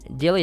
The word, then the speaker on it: Dilley: Stephen dilly is how you pronounce Tilly and Annie Crawford and dr.